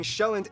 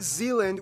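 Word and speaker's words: Sjælland: the largest island being showand not zealand which is not to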